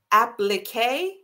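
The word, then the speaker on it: appliqué: I always mess up pronouncing. Thank you, Caitlin. Applique.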